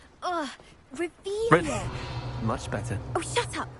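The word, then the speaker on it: Revelio: Revelius. You're saying it wrong. Ugh, Revelius.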